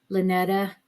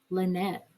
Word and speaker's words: Lynette: Even the pronunciation of her name, Lynetta Putman, was actually just Lynette. Good old Lynette.